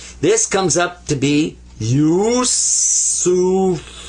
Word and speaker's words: Yusuf: So it's pronounced you, you. And then sa, there's the three dots, the three stems that are up here like this, without dots, actually. So that's sa, pronounced like a S.